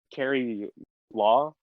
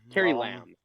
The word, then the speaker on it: Carrie Lam: It just seems like the government, like, Carrie Law or I keep getting her name wrong. Lamb. Carrie Lam.